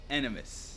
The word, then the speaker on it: Aenimus: M.I We are also Aenimus.